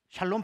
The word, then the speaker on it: 샬롬: 샬롬 씨엘로 첼로 으 샬롬 발음 잘 못해도 괜찮아요 살롬 입니다 살롬 그냐 어차피 이래도 은 해요 저래도 냅니다 어혈로 미 되든지 살롬 이 되던지 이제 여러분 제자들에게는 면케